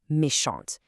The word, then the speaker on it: méchant: Elle est méchante. But if you start with il, your brain knows to keep that consonant silent. Il est méchant.